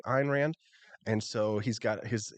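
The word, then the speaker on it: Ayn Rand: but you know what Judge Napolitano calls for Ein Rand uh it calls her and Rand when her name is really Ein Rand and so he's got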